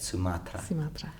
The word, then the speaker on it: Sumatra: exploring the coral reef off the coast of Sumatra that's how you say it Sumatra and he said that the diversity of organisms